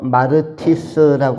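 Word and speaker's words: μάρτυς: 아 명칭으로 사용을 했습니다 이것이 헬라어의 원문의 발음은 마르티스이고 그다음에 영어로는 마터스 단어이고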